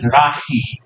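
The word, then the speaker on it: Mizrahi: called the misi Jews sometimes spelled a it's pronounced mrai so sometimes I'll have to C but mrai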